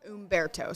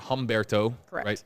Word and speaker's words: Humberto: the spot you know the correct the correct pronunciation will be Umberto so got it right so so people who are who are asking it's not Humberto Berto yes like because it's spelt with an H fret right but it